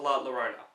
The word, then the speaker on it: La Llorona: put there because I don't think people will pronounce that name yet it's called the curse of La Llorona I hope I did say that right this